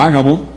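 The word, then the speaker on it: Ágabo: de ellos llamado o a Gabo tiene acento en la primera se puso de pie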